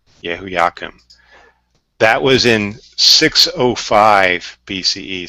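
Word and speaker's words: Jehoiakim: with these these names I believe is pronounced yeah whoo yeah Kim yeah whoo yeah come that was in 605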